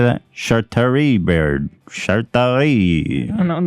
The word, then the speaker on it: Chartreuse: Chartreuse, bird.